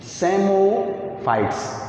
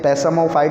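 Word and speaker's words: psammophytes: तीसरी बात करेंगे बालुकोद्भिद या सेमोफाइट्स। पी साइलेंट है इसमें, पैसामोफाइट नहीं बोला जाएगा, सेमोफाइट्स बोला जाएगा।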